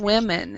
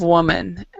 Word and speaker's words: women: and a fifth of women is how we pronounce it women age 20 between 20 and 34 okay instead of woman women okay any words here